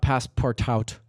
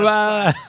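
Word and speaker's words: Passpartout: Okay, somebody tell me about Passepartout. I wish I knew how to say this game. 'Cause I really Passepartout. like it. Passepartout, that's French. Okay, so Passepartout is this wonderful Passepartout. The T is silent.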